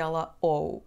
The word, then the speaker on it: ou: The letter "u" at the end is not pronounced. Depending on the region, we may also pronounce it /ow/ as if it had a /w/ sound.